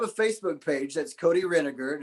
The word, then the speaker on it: Renegar: I have a Facebook page that's Cody Renegar, and it's spelled like renegade, sounds like vinegar.